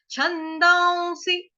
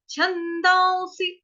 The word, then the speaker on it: छन्दांसि: उसके बाद है स, उसके साथ छोटी की मात्रा, जो ये अनुस्वार है उसका उच्चारण हम क्या करेंगे, आधा व, छंदांसी, छंदांसी।